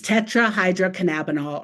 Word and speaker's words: tetrahydrocannabinol: If we were in person, I would throw you a candy if you could pronounce this word. It's tricky. It's tetrahydrocannabinol, or THC, and that's the substance that's primarily responsible for the high effect that people get.